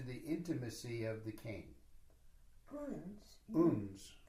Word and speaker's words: uns: Uns. Uns. How do you spell it? U-N-S.